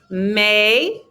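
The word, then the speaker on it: mais: repete whatever it is may silent s whatever the second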